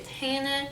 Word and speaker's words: tahini: tahiti by the way we don't say tahini we say tenen i've heard if you